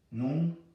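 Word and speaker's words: נֹחַ: But it should not have the ah sound on it. It should just be Nu.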